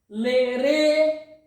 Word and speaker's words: Lerê: It's like e. LERÊ, LERê. You see, this is LERê, LERê. The second E is stronger. It's much stronger than the first one.